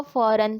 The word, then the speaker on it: foreign: जैसे कि सबसे पहला वर्ड है फॉर, हम इसे फॉर पढ़ेंगे और सेकंड वाले को फॉरन पढ़ेंगे.